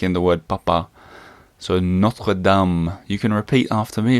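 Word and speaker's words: Notre-Dame: right in French it's called notam not notra Dame because I know I think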